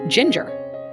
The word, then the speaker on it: Jinger: 19 Kids and Counting her name is pronounced Ginger all the siblings have names that begin with J the Duggars are known